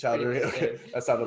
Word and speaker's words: Chowdhury: Is there extra syllable? Enough. Yeah. How would you say it? Chowdhury. I mean, it's Chowdhury.